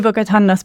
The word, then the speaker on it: Bogotanos: And it was called the New Bogotano, and I need to say it properly, New Bogotanos policy, which means new to Bogotá.